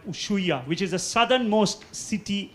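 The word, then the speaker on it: Ushuaia: city called uh uh usya it's spelled as us h u i a usya now this is generally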